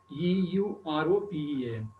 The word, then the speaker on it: European: But the sound is it is producing is European. U. So U sound is not a vowel sound. That is why a European.